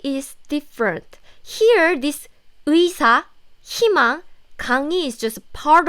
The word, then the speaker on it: 의: First, if this 의 with this 이응 comes at the beginning of the syllable, as used as a first syllable of the word, then this 의 is clearly pronounced like 의사.